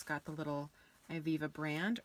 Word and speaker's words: Ivivva: First up is Ivivva, I believe is how you pronounce this, and it is the sister company of Lululemon.